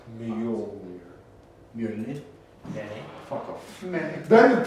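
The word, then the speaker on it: Mjölnir: Matthias, since you're Nordic, dude, how do you pronounce Mjolnir? Mjolnir.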